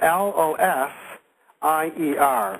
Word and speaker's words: Losier: with the same title so my last name is spelled l w sorry l w I'm not spelling my right name it's l OS i e r losier l o s i e r okay